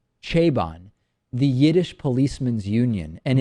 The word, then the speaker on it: Chabon: novel by Michael Michael I believe the the last name is pronounced chabon the Yiddish policeman's Union